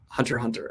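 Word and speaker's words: Hunter × Hunter: TBR by the way you don't pronounce the X and Hunter x Hunter hunter hunter ok Hunter hunter is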